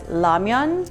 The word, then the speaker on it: ramyeon: Now, instant ramen noodles, or ramyeon in Korean, it's pronounced as ramyeon.